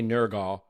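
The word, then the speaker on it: Nørgaard: across the pronunciation debate, if I continue to say Nurgal, I think we will lose what what listeners we have left to the podcast. So, I'm gonna say Norg for the purposes of this conversation.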